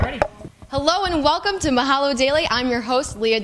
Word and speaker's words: Mahalo: leave it to me you mispronounced Mahalo Mahalo at the beginning you said Millo I have to say